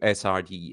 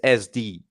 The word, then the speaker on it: SD: I hate when people do SRD. It's SD. On the pronunciation of SorareData, you do whatever you want, but the abbreviation is SD.